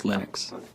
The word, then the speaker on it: Linux: lonus and I really don't care how people pronounce my name but Linux is always Linux he developed a kernel and got it working